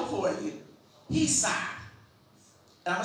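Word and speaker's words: chesed: The C is obviously silent.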